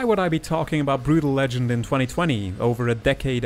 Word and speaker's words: Brütal Legend: yes i'm legally obligated to call this game brutal legend because this letter is pronounced ew in my native language you wouldn't